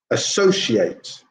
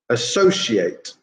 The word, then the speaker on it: associate: main stress is anxiety number two is the same second syllable stress associate associate okay that's the verb